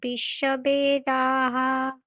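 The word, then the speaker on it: বিশ্ববেদাঃ: বিশ্ববেদা বলুন স্বস্তিন পৌষা বিশ্ববেদাহ স্বস্তিন পোষা বিশ্ববেদাহ ষষ্ঠিন পৌষাক বিশ্ব বেদাহা হুম বেদা ব্যাকারটা হচ্ছে না বয়কার হবে না বে বে নয় বে বিশ্ব বেদাহা বলুন বিশ্ব বেদাহা হুম ঠিক তারপর জুলি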